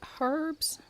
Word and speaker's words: herbs: I need herbs. Herbs with an H because if not, Robbie will call you out for not pronouncing it correctly.